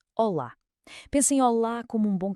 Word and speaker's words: olá: E atenção à pronúncia, com aquela sílaba tónica bem marcada no fim, olá.